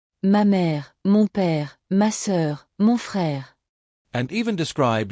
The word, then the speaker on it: sœur: La sœur, la sœur. This one trips people up. The OEU sound is like saying, with rounded lips.